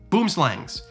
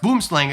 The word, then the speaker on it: boomslang: Except for one, boomslangs. Now I know someone's gonna comment, right? There's gonna be the 7 South African viewers I have. It's not pronounced boomslang, it's pronounced boomslang or whatever, right?